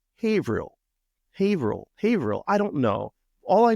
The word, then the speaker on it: Haverhill: it it's not pronounced havil I was like well how the heck am I supposed to pronounce it they said it's a long a I was like oh